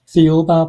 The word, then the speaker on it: Thiaoouba: And how do you pronounce the book again? The Uba prophecy.